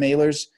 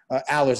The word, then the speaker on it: Ehlers: That's how I met Jim Ehlers. Allers, I should say his name right. Yep. Jim Allers.